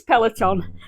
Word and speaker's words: Peloton: Peloton. So the Peloton brand. Am I saying that right? Peloton. Oh, Peloton. So it's Peloton.